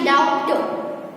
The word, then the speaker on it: doubt: DOUBT यानी डाउट, ब है ऐसा हम बोलेंगे, लेकिन ब डाउट नहीं बोलना है, हम कैसा बोलेंगे डाउट, डाउट। इसीलिए बी है वो यहाँ पे साइलेंट है।